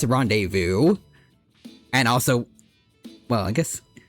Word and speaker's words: rendezvous: Yeah, like at least as a kid, I always thought it supposed to be like rendevous, but he did rende vu from the start.